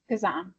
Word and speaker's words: Kazan: Kazan.